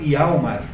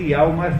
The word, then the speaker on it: Hjalmar: E ao mesmo tempo esse Gregers tem um amigo de infância chamado Hjalmar, né, escrito com J, nessas línguas norte-europeias, o J pronuncia-se como se fosse I.